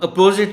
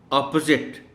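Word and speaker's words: opposite: Correct pronunciation जो है मैं बोलता हूँ, आप ज़रा गौर से सुनिएगा ऑनरेबल टीचर. अच्छा हाँ, अपोजिट भी बोल देते हैं लोग. तो करेक्ट है, अब सुनिए, ऑपोजिट.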